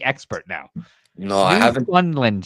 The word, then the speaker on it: Newfoundland: New Funland, she said. New Funland. That's kind of how you say it.